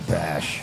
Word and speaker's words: Bash: a metal band yeah Dana Bash D the B she doesn't really look like that though kind of rhymes with gash which is hey if